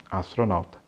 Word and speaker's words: astronaut: Eu queria ser um astronauta. Percebeu aí o AU nessa palavra?